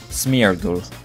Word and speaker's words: Smeargle: No, that's the Lord of the Rings. Smeargle. There we are, that's it. That's, I have to say it properly.